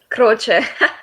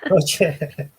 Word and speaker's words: Croce: Our special guest today is Filomena Croce. Is that how you pronounce it? Croce. Croce.